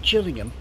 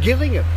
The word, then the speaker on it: Gillingham: known as Gillingham not Gillingham backhand but this is the spare spelled exactly the same but pronounced Gillingham what this place has